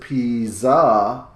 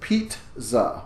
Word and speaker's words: pizza: we don't pronounce it Pisa we pronounce it Pete za with a T sound in there again before the second Z so when you go